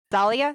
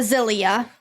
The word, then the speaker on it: Zelia: Um, Zen also had a twin sister, Zalia. Is that how it's pronounced? Uh, Zelia. Zelia. Thank you.